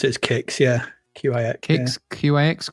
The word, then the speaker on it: Qix: It's a successor to Kix. Is that pronounced how it's pronounced? Kix? I think I've always pronounced it as Kix, yeah.